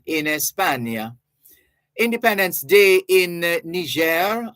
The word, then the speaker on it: Niger: espania Independence Day in Niger otherwise known as Niger Niger is the front French pronunciation mata's